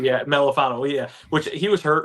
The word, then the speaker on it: Melifonwu: I mean, we swung and missed early on I can't pronounce it. Iwafana Mentu or whatever. Yeah, Melifonwu. Yeah, Melifonwu.